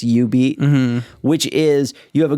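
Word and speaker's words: jubeat: which the machine says jew beat on it but because of the japanese pronunciation it's you beat which is you have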